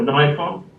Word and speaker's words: Nikon: And for lenses, I'm a Canon user, basically because it was going to be Canon or Nikon really, or Nikon, depending on how you pronounce it.